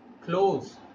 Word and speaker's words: clothes: The right way of pronouncing this word is clothes. What do you pronounce it? Clothes. The same way, close the door.